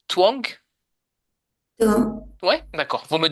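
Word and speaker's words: Tuong: Quand je parle, je dis twang.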